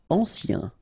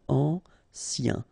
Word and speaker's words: ancien: Ancien. Remember, A-N, ancien. Ancien.